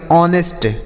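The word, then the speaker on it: honest: इसे हम पढ़ेंगे ऑनेस्ट।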